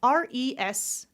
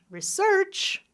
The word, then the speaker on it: research: I can do it like this, da-da, or I can do it like this, da-da. In this case, both are correct. It can be research, or it can be research. Both are perfectly fine.